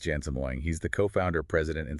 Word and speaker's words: Jensen Huang: It's pronounced Jensen Huang.